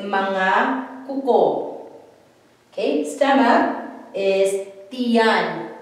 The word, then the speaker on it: tiyan: We can say tiyan or we can contract it. We say chan. It would sound like, so it would be like this, T-Y-A-N, chan, but then we don't spell it like this. We always spell it with the I. So stomach is tiyan or chan when you say it.